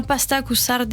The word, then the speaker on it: pasta cu sarde: Bon alors le menu aujourd'hui, votre plat préféré c'est les pâtes aux sardines, donc prononcé en italien pasta cu sarde, je sais pas si j'ai un bon dire.